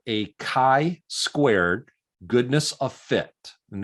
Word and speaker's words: chi: here uh chi squared this is pronounced like the letter k so it's not chai or shy like chicago it's a hard k